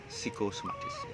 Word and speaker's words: psikosomatis: Tulisannya berisi PSI, tapi bacanya psikosomatis.